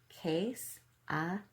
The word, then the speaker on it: quesadillas: Quesadillas is pronounced quesadillas.